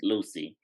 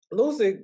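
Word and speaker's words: Lusia: i hope i'm saying her name right it's lucy it's spelled lucille but it's pronounced lucy good old lucy um i saw her whole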